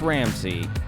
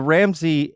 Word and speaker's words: Ramsay: if there was some I think they're pronounced the same uh mine's spelled like the chef yeah yeah and then